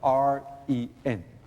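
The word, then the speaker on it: 仁: But quite in the United States, we try to use the word R-E-N, ren. Okay? But in Chinese, it is pronounced ren.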